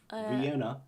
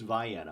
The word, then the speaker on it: Vienna: many so many strange you know instead of Vienna in southern Illinoi it's Viana M Cairo y yeah a lot of people